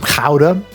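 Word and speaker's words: Gruyère: I have here some kha which is how you're actually supposed to pronounce gura but I know that I'm never going to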